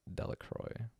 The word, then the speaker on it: Delacroix: The villagers pronounced this name Delacroix.